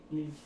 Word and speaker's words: Lille: Lille.